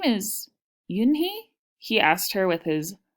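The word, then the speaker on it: Unhei: turning around it was Joey your name is Yoon hee he asked her with his eyes open wide yeah and he looked quickly at mr. Kim then turned to Joey she nodded slowly yes it's pronounced Yin Hey and it means grace mr.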